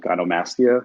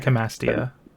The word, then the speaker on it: gynecomastia: It's called gynomastia or gynomastica. I can't remember how to pronounce it. But Gynecomastia.